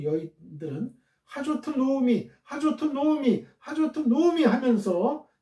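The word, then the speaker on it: נעמי: 나오미는 이제 한글로 나오미라고 했고요. 히브리어 원어상으로 발음은 노미예요. 노미.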